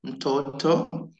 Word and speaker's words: mtoto: In silence of M, we pronounce mtoto. We don't silence M. we just stress on M as a separate word. We don't combine it.